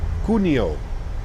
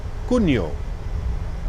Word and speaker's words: Cuneo: Cuneo. Cuneo. Cuneo. Right? Cagliari. I feel like we're getting better with our Italian pronunciations.